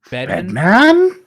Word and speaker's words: Bedman: Bedman?